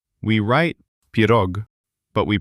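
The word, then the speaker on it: пирог: Now, look at a very delicious Russian word, pirog, pie. Let's find the stress here. It falls on the letter o in the syllable rog.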